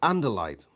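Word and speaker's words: Andalite: too it gives pronunciations and light pronounced anderlite a four-legged two-handed four-eyed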